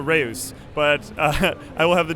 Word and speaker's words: Reus: So it's a Dutch game, and we actually pronounce it Reus. We still allow you to say Reus though.